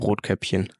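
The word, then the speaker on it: Rotkäppchen: say that in German Ro caption Ro caption you know like the like this drink in Germany yeah sparkling wine basically and Cinderella and Cinderella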